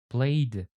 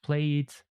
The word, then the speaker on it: played: You see, it's better to try to pronounce them like t or d. Booked, arrived, played, looked, cooked, and so on. So we don't say like cook it, play it, arrive it. It sounds really strange actually.